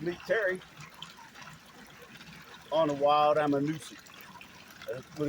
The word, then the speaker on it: Ammonoosuc: I'm supposed to meet Terry on a wild I'm a Noosa but it's which is spelled a m m o n o o